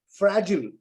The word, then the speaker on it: fragile: You know how the Americans would say it? They would say fertile, fragile, versatile. They don't say "ile." They shorten it and make it fragile.